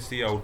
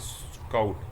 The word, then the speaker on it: cout: So next we are having question number 124, the function C in and C out, don't read it as sin and scout, it's not the correct pronunciation।